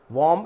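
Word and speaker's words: womb: वॉर्म यानी गर्भाशय, तो यहाँ पर भी बी को साइलेंट किया गया है।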